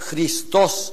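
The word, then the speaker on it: Χριστός: cristos Quiero recordar que los griegos de la de la Coin de la de los tiempos de Cristo pronuncian la eta como yota por tanto esta palabra se dice cristos igual que esta esta escribe con i cristos Y eso con eta pero la eta se lee I cristos lo que pasa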